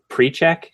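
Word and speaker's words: Pericak: They list him offensive lineman, Will Perichek, but or Will Perak, but they pronounce it precheck, which pre-check just doesn't make any sense to me.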